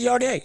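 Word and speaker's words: Yarde: It's not Yard. It's Yardé.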